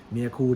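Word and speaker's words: Mirecourt: คือ เกิด ขึ้น ที่ เมือง เมีย ครู รับ เมีย กู ที่ จะ ให้ ดู ก็ คือ สะกด อย่าง นี้ นะ ครับ ยอม เขา ฟัง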